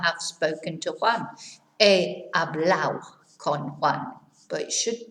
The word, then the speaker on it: hablado: in this area is the ado. It here is pronounced au. So instead of saying supermercado, they will say supermercado. Instead of saying hablado, hablao. Comprado, comprao.